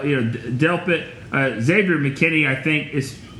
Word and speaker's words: Delpit: yeah but you know you said it right Delp it Zagreb McKinney I think is I think is